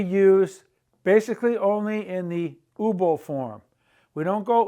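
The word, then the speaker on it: hubo: it's not accurate it's ubo for both singular and plural there was a problem ubo right here the H is silent ubo there were many problems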